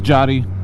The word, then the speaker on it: Yadi: My real name is Yadi, pronounced as Jody, but my real biological name is Jadian, so it's like a big tongue twister.